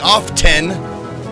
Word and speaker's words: often: The T is silent. But so many people started saying often that now the T pronunciation is acceptable.